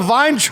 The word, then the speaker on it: Vayntrub: Milana Vine.